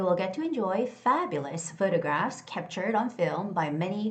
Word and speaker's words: photograph: And the word photograph is the first syllable stress, so it's got to be photographs, photographs, photographs.